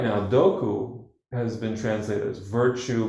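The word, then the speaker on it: 徳: You put ku next to toku, and it's pronounced doku.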